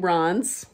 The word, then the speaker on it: Reims: Because I like this little town in Reims. It's spelled Reims in France.